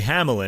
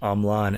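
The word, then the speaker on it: Hamelin: In America, he's referred to as Mark Andre Hamlan, and he calls himself that as well, but in Japan, he's given the French pronunciation of his name, Amlan.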